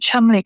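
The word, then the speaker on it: Cholmondeley: Beaver Castle is spelled Belvoir. Yeah. You know, and Chumley Castle is Chanderly.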